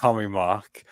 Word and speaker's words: Commi3 Mark: It's pronounced Commi Mark.